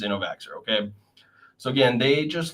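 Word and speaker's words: Innovaccer: this company called innovate innovaker and it's spelled i-n-n-o-v-a-c-c-e-r and I don't believe it's innovaxer okay so again they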